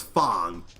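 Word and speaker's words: F.A.N.G: just had the uh initials F A N G pronounce as Fong and yes he was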